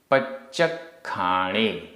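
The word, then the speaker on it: पच्चक्खाणे: आदा पच्चखाणे आधा च पूरा च आधा क ख पच्चखाणे।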